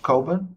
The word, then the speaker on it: Cockburn: It's pronounced Coburn, but it's spelled Cockburn.